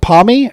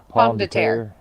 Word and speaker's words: Pomme de Terre: Is it Pommy or Pomme de Terre? I don't know how to say it. Pomme de Terre.